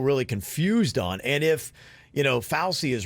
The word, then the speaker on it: Fauci: Anthony Fauci? Fauci, yeah.